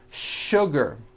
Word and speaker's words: sugar: What you may not know is that there are some words in English that are written with the letter S, but are pronounced with the SH sound. Words like sugar and sure.